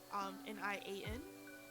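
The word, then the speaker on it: 年: Normally her name or her title precisely would be noble consort Nian or Nian, Nian.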